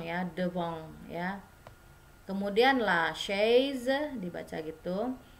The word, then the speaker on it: chaise: Kemudian la chaise dibaca gitu. C dengan H itu jadi show ya, jadi show. Short gitu ya. Jadi la chaise.